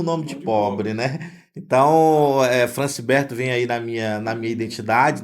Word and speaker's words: Francibert: O meu nome, na verdade, é Francibert. Só que o Franciberto. brasileiro, ele pronuncia Francibert, né?